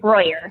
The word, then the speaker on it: Breuer: pronounce it again for me. Let's make sure we get it right here. Breuer? Yeah, no, it's Breuer.